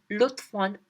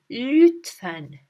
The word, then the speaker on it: lütfen: Now here I want you to pay attention that this letter, we don't say it as lütfen, lütfen. No, it's not that. It's ü, lütfen.